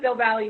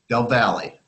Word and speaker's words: Del Valle: We pronounce it Del Valle High School. Del Valle.